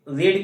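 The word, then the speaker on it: read: क्योंकि देखिए रीड की थर्ड फॉर्म क्या होती है? देखिए प्रोनंसिएशन करेंगे तो हो जाएगा रीड रेड रेड। लेकिन स्पेलिंग आपकी वही होती है।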